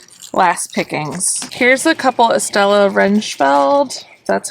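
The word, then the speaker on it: Estella Rijnveld: salvage the very last pickings here's a couple Estella renfeld that's how you pronounce it you can see this one just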